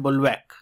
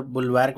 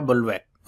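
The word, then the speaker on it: bulwark: आज का पहला वर्ड यहाँ पे है, इसको पढ़ते हैं बुलवैक। यहाँ पे आर कह सकते हैं, साइलेंट रहता है। अगर बुलवैक भी पढ़ेंगे तो कोई गुनाह नहीं है, लेकिन इसको पढ़ने का तरीका है बुलवैक।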